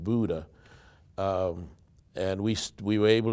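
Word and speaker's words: Bodø: experience it was a place called Buddha Norway b-o-d-o but they pronounce it Buddha um and we were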